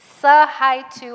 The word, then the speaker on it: Sahaitu: The T is silent. Sahaitu Abi. Hello. Again, my name is Sahaitu Abi. It's like say hi to.